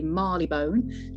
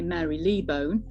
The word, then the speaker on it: Marylebone: for London Underground, because the pronunciation of Marylebone was really contentious. Some people wanted me to say Marleybone, some people wanted me to say Marylebone. And bizarrely, some people wanted me to say Marley-Labon, which was just outrageous.